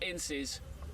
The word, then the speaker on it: Ince: It's actually, I want to make sure I get the pronunciation right here, Ince.